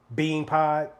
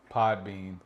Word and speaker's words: PodBean: Bean Pod. PodBean. This I knew it. motherfucker and he been saying it wrong the entire time.